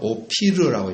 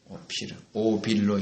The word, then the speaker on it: 오피르: 우리가 읽을 때는요, 오피르라고 읽어야 됩니다. 오피르. 오빌로 읽는 것은 한국어가 된 거죠, 좀 많이.